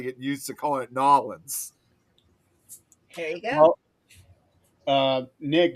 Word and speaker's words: New Orleans: It's Nolans. yeah, and I'm ashamed to admit we always called it New Orleans, but now I'm trying to get used to calling it Nolans.